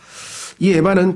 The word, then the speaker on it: 에바: 그걸 에바라 그래 에바이 에바는 제사장의 의복인 에봇과 다른 에봇이 아니고 조심하십시오 발음을 에바라고 하는 히브리어인데요 바구니와 바구니 근데 그